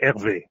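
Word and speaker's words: Hervé: Well, if you want to be native, you would say Herve.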